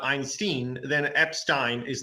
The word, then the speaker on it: Epstein: I heard it pronounced Epstein files. Albanian narco-terrorists help traffic over 1 million children. If we go by non-Goyim terms, it should be Epstein, because that's Yiddish, So yeah.